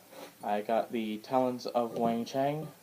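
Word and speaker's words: Weng-Chiang: got the talents of wangcheng which is how I've been told to pronounce I someone was at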